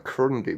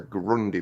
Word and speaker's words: Grundy: I'll say it right this time, because I noticed in my last video I called it a Crundy bin. It's not, it's a Grundy bin.